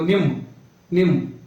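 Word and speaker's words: ನಿಮ್ಮ: जैसे निम्म, इसको निम्म भी बोल सकते हो, निम्म नहीं बोलना, निम्म पूरा स्पष्ट बोलना है, निमगे, नमगे, मेले।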